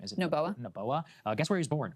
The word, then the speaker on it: Noboa: Noboa.